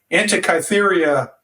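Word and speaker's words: Antikythera: probably going to butcher the name but it's antium mechanism is that correct well I think it's hard to pronounce the anti cytheria mechanism yeah it's uh it's really interesting I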